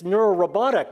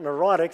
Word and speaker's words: neurorobotic: And I was like, well, really, what I told him was it's neurorobotic, not neurotic. So he dropped a syllable, made headlines.